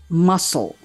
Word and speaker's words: muscle: Meanwhile, C is silent in the following words, aside from ascend, like scissors, scissors. Science, science. Muscle, muscle.